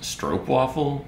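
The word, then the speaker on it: stroopwafel: mean it's amazing uh but sean's like it's pronounced strobe waffle dumbasses uh evan says is this a commission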